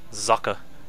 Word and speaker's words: Socke: it's a German word for sck and it's pronounced zaka he told me that in person believe it